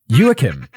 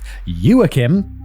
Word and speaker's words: Joachim: Emma's given me a pronunciation guide of Joachim. Joachim. I guess because this is... where is this set? Oh, he's German. Okay, he's German, so I guess it's Joachim in German.